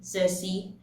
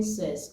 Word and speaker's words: Circe: was pronouncing cersei wrong i was saying says all this while until i heard that it was actually cersei not says so i saved myself